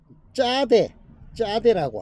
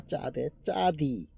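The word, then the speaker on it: צדי: 맨 앞 글자 짜데라고 합니다. 짜디 또는 또 사디라고도 합니다.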